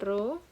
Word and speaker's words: rho: Nah, kalau notasi dari koefisien korelasi pada data populasi, itu notasinya pakai rho, ini bacanya rho.